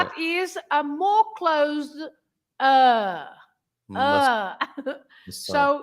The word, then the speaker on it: massa: If you say pasta, massa, you open the first A. You say massa, and you stress the first part, massa.